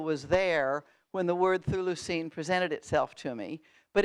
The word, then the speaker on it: Chthulucene: Yeah, well, note I didn't pronounce it Cthulucene, but Thulucene, and went to the phonic, not to Cthulhu.